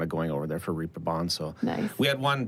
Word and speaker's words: Reeperbahn: Reeperbahn, Reeperbahn yeah.